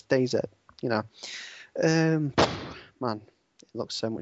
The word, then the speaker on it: DayZ: to playing DayZ, and it's pronounced DayZ. Some people, well, the Americans can say DayZ because that's how they pronounce Z. Like they say zebra instead of zebra. But Z, in case people haven't realised, DayZ means it's the end of days.